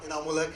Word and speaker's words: इनामुल हक: Thank you so much for your question and a little correction, मेरा नाम बड़ा बिगड़ता जा रहा है। मैं शहर में नाम कमाने आया था, कभी स्पेलिंग और कभी प्रोनाउंसिएशन। मेरा नाम इनामुल हक है एंड आई एम नॉट a tourist. My name is इनामुल हक एंड आई एम नॉट a tourist, so please make a correction.